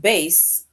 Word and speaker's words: bass: And this word bass, right, it rhymes with case.